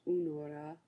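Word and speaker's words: února: February is Unora. Be sure to accent the first syllables as you learn to pronounce the words.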